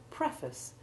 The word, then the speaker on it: preface: of the monosyllable face, but in the word preface, the root syllable loses its stress and changes to the short A2 ivy sound, while the prefix, now being stressed, changes to short E1.